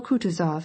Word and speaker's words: Kutuzov: asked anna pavlovna journal kutuzov has been kind enough to desire me as his aide to comp he spoke in french and accented the last syllable of kutazov's name like a frenchman elis votrefem she will